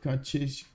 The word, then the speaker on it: Kacheshka: Yeah, it's funny to hear Kache instead of Kacheshka. I'm sorry. It is with an extra sh, right? Kacheshka. I'm sorry. Sometimes I totally forget to pronounce the sh.